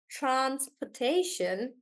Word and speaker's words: transportation: we take the word transportation transort and just remember the shun rule guys that whenever there's shun then the stress is on the one before that and that's why we say Transportation Transportation does that sound really